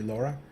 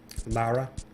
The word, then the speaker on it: Lara: try nice thank you Laura Lara I believe is the official pronun pronunciation but yeah once you